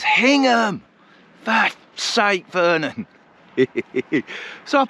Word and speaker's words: Hingham: People in towns like Wymandham, it's Windham. Hyangham, it's Hingham.